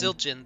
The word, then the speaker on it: Zildjian: Zildjian, the D is silent.